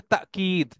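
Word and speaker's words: تأكيد: হাদা তাকিদ লিল ওয়াইদ, তাকিদ, তাকিদ আমরা বলি না তাগিদ দেয়া বাংলায়, তাগিদ শব্দটা আসলে আরবি শব্দ থেকে আসছে, যেটার উচ্চারণ হচ্ছে তাকিদ।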